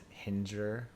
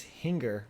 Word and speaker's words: Hinger: because one time you told everyone that it's Hinger, like injure. Yeah, and it sticks. And it's not. And people still think Well, that. phonetically, if you look at it, that's what it looks like. It's singer with an H. It's Hinger, like singer.